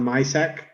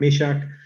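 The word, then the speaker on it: Myšák: things about him yeah um i heard canadians pronounce his name as young maiseck yeah that's how i would if i didn't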